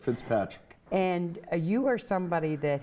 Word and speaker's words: Fitzpatrick: Did I say it right? You said it absolutely correct, Fitzpatrick.